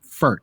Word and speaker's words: Pferdt: on LinkedIn at FG Pferdt. That's FGPFERDT, Frederik Pferdt. You can find him on Instagram at Frederik G Pferdt. Again, that's PFERDT on the last name. Pronounced in German, Pferd. It means horse.